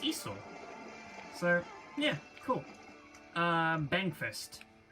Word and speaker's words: Esau: uh for a while i was calling them jacob and esau but then i went ahead and looked up what the hell the actual pronunciation is supposed to be and now i know it's esau so yeah cool um